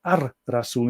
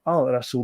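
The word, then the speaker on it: الرسول: And of course, Ar-Rasul, the prophet, is pronounced Ar-Rasul instead of Al-Rasul because Ra is the, let's see, the sun god of Egypt.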